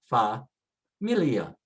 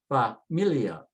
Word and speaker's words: familia: And again, it ends with a vowel, stress next to the last and say familia, familia.